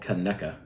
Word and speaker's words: Conecuh: I'm not sponsored by them, but I did get in trouble from a lot of locals for not saying it correctly in my last video. So it's called Conecuh.